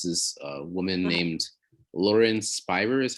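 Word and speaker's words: Spierer: about right is this a woman named lauren spire is how you pronounce it s p p i e r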